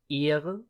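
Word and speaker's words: Ehre: ear which means honor keep in mind the e in German is is pronounced a um the H is almost um almost silent you do basically just do do you basically just take it to prolong a word often times especially if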